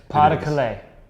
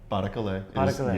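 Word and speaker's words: Pas-de-Calais: No, I'm waiting for you to pronounce it. I believe it's French, and it's Pas de Calais. Pas de Calais. Yes. Pas de Calais.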